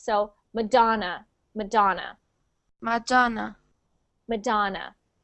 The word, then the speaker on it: Madonna: ah madon yes so when we say that word in English we pronounce it with an A so madon and we pronounce the do as the big syllable in so we we say that part the loudest so Madonna Madonna Madonna